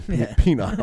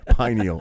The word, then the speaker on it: pineal: data on it that pineal pineal okay i said it wrong penile all right pineal okay close enough hey listen i was